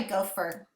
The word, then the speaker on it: gopher: Let's try gopher. G. O. Did you remember combination ER like butter? Gopher.